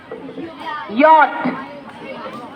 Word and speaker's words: yacht: Yacht. यॉट।